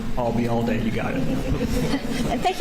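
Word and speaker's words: Ayalde: was that you uh remember the phrase I'll be here all day and drop it here I'll be all day you got it and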